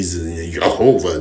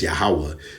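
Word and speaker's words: Yahweh: in in Hebrew okay no v's and e yahovah that's not his name it's yahwah so once again they're doing it wrong all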